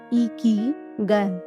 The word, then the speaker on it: ikigai: Then to pronounce the word properly, you say Ikigai with a smile.